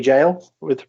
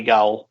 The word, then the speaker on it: gaol: I've been to Derby Jail and interviewed Richard Felix from Most Haunted fame. I did say Derby Gaol because that's how it's spelled, but he told me it was jail, so I kind of got told off for that one.